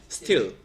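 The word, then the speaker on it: steel: 근데 밑에 있는 거는 스틸 짧게 위에 두 개는 스틸 길게 발음 알겠지 자 그요 스틸이라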